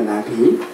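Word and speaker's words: נביא: 발음이 나비입니다. 나비.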